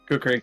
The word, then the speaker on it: kukri: Is that how you pronounce that? Yeah, kukri.